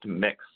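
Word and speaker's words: Mx: you might start seeing it's pronounced mix spelt and x and for example where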